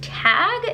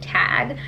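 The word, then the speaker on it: Tadhg: have figured in and I believe this name is pronounced tag it's an Irish name it's about ta D G H I think you pronounce it tag and please correct me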